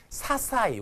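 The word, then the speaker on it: 些細: 사사이 참 어려운 단어죠. 이건 밑줄 쫙 끄세요. 아주 자질구레한 사사이라고 읽어요.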